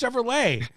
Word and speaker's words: Chevrolet: It's Chevrolet.